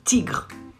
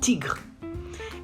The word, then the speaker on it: tigre: You say un tigre. Un tigre. It ends with an E, but the final E is silent in this case.